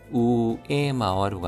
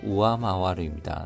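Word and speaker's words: 上回る: 우에마와루가 아니라 우아마와루입니다.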